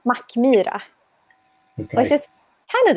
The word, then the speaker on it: Mackmyra: Same for me, Mackmyra. I'm sure there's people watching that call it Mack-My-Rah, and I don't think either are exactly right, are they? Well, I would say Mackmyra, okay.